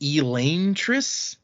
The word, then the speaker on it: Elantris: the title is uh apparently it's technically pronounced elaine triss julia louis dreifus lives